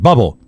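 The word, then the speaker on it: Bublé: Christmas album out yes I think it's pronounced bubble I've been listening to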